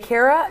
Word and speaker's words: Kara: I know your character DJ Kara is how you pronounce it DJ Kara she kinda